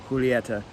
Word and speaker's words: Julieta: took Spanish in school they don't say Juliet in the Romeo y Julieta that is how that ever be pronounced and that's just how I've always pronounced it and I'm sure there's videos of cigar experts pronouncing it Juliet here's my personal preference is this correct Spanish pronunciation would be Julieta um if this was